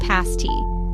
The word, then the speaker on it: pasty: Head to the upper peninsula and you must try a pasty pronounced pasti.